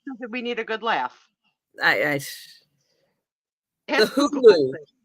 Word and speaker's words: Cthulhu: Cthulhu. All right, that's how you say it. Cthulhu.